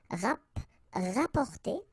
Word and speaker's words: rapporter: So same thing here, you don't pronounce the double P, rapporter.